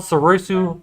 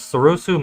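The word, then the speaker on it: Soresu: users except for grievous he has a keyword called sarusu so i'm saying it wrong that's sarosu mastery so while defending using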